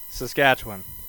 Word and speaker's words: Saskatchewan: Uh but we say W I N.